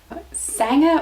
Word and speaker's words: sanga: a compliment over here sanga or sanger as it's spelled is actually just short